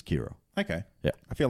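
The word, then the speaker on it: Qi'ra: her name is Keira it's Q - or comma IRA which I would pronounce his Keira okay yeah I feel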